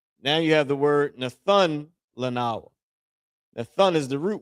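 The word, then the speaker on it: נתן: Nathun is used as a root word used as give. All right. Na by itself, tha, and the character na. Nathun. Okay, that's how you pronounce it, which is where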